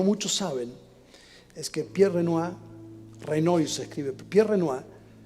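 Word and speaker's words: Renoir: Pier Renoy fue uno de los grandes maestros de la pintura, pero lo que no muchos saben es que Pier Renoa Renoy se escribe Pier Renoa casi los últimos 20 años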